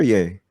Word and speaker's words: Ye: So really quickly, those of you who don't know, Kanye West will be known as Ye. Y-E. He legally Is it Ye or Yay? Yay. Well, Yay. Yeah. I said it wrong.